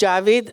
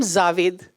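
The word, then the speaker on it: Javed: husband is Javid akar a lot of people call him zavid so they say why do you call him zavid he said poor thing they're trying to pronounce my name correctly so they put us a a where that n none is required so there's a lot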